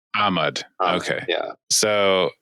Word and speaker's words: Ahmad: uh ahmad yeah yeah technically the emphasis on the first syllable ahmad okay yeah so it's